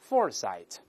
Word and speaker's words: foresight: 节， the accent is on the first syllable，这么来读，大声来一遍， foresight， foresight 叫远见或先见之